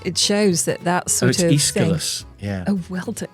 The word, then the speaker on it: Aeschylus: I mean, it shows that sort of Aeschylus, thing. yeah. Oh, well done, Quite hard to pronounce. It's Aeschylus, Greek playwright, yeah.